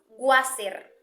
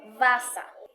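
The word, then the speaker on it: Wasser: el alfabeto fonético internacional según este bellísimo mapa de sonidos pronunciaríamos baza significa agua muchas personas dicen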